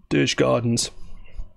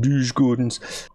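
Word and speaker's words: Djurgårdens: behind same points as douche Gardens I've said it wrong again lose Gordon's but you can see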